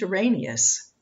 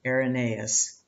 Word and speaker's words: Irenaeus: treatise against heresies by saint arenas bishop and also known as saint irenaeus oh my pronunciation goes south sometimes oh lord